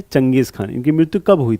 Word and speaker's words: Genghis Khan: इंग्लिश में इसका गेंजिस खान नाम आपको लगेगा पढ़ने में, लेकिन इनको क्या प्रोनाउंस करते थे? चंगेज खान।